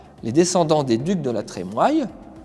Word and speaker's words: La Trémoille: descendants des ducs de la Trémoille puisqu'on le prononce comme ça depuis le 19e siècle la famille décide d'en